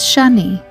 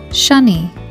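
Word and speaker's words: שני: The first word you see is Shani. It's the word for scarlet, as in the scarlet thread. It is spelled with the following letters of Sheen, Nun, and Yud. Shani.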